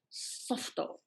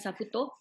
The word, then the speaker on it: Softo: mamak special, and strawberry softo. Okay, that's how it's Softo. pronounced. Bukan saputo, softo. Siap And Google lagi, softo.